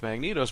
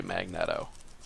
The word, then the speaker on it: Magneto: as far as like I would say Magneto and somebody else would say magnette oh and then you have